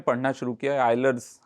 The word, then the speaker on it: Euler: में पढ़ना शुरू किया, आइलर्स आइडेंटिटी इसको बोलते हैं, हम लोग बचपन में यूलर बोलते थे क्योंकि स्पेलिंग उसके EULER है, हमको बहुत बाद में पता चला, बहुत बाद में नहीं, अभी पता चला।